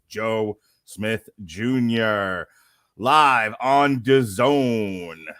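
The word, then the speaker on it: DAZN: Smith Jr live on Doone which rhymes with calone as we all know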